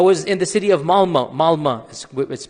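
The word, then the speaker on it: Malmö: And in Stockholm, if you have 10% Muslim, I was in the city of Malma. Malma is it's spelled with an O but is pronounced Malma.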